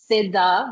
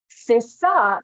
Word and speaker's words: CISA: Um, a quick PSA is Sida is pronounced like Sidda, like scissors or the Grammy award award-winning artist Siza. Um, SISA is also acceptable.